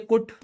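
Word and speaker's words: cut: इसका प्रोनाउंसिएशन होना चाहिए कुट, और इसका प्रोनाउंसिएशन होना चाहिए बुट। लेकिन एक्चुअली में क्या होता है, एक्चुअली में ये तो होता है पुट, लेकिन ये नहीं होता कुट, ये होता है कट, और ये क्या है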